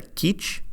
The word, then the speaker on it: Kizh: The descendants of the original people of Los Angeles refer to themselves and their ancestors as the Kizh, K-I-Z-H, with other spellings and pronunciation, including K-I-J, Kizh, and Quichereno.